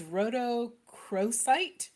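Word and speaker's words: rhodochrosite: minute i wrote this down so i could pronounce it that's too funny it's rhodocrosite it's r-o-d-o-c-h-r-o-s-i-t-e so yeah we spelled it so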